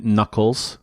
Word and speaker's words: Knuckles: his big buddy, Knuckles KKnuckles *Brain damage* Its so much funnier to say KKnuckles i donno.. i know its pronounced as "Nuckles" but ffs KKnuckless *More